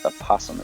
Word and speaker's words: opossum: is how a possum there's an interesting word it's a silent of just opossum is how you say it a possum plays